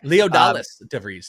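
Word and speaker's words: Leodalis De Vries: Leodalis DeVries, is that the correct way to pronounce Leo DeVries. Yeah, Leo DeVries. Okay. Leodalis DeVries, technically.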